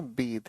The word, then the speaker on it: bathe: देखो बेटा, BATHE को प्रोनाउंस करना है बेद, ये अपने आप में एक वर्ब है। BATH की प्रोनाउंसिएशन होती है बात, ये अपने आप में नाउन या एडजेक्टिव है। ठीक है ना, फाइन, बात। लेकिन वर्ब की तरह अगर यूज करें हम, ठीक है कि नहीं बच्चे? अगर हम वर्ब की तरह यूज करते हैं इसकी प्रोनाउंसिएशन बनती है बेद।